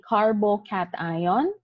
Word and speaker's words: carbocation: carbon would form a carbocation and this carbon would form a carbon ion so again remember how they are pronounced this is a carbo cat ion and a carbon ion